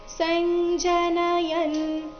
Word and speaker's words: ಸಂಜನಯನ್: ಕಾರಣ ಸಂಜನ ನಯನ್ ನಯನ್ ಮೊದಲು ಪೂರ್ತಿ ನ ಇದೆ ಯ ಆದ ನಂತರ ಅರ್ಧ ನಕಾರ ಇದೆ ಸಂಜನಯನ್ ಹರ್ಷನ್ ಹರ್ಷ ಷ ಆದ